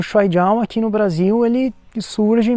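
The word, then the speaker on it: 摔跤: as pessoas falarem mais Shuaijiao, porque Shuai, os dois jeitos estão certos, Shuai, mas é que Shuai é a pronúncia com o sotaque lá de Taiwan, de Hong Kong, enquanto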